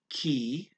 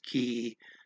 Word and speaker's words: que: It looks like it would be pronounced K, but it's pretty much everyone says key, every accent that I've seen. Even talking slow, I still hear everybody say key for that.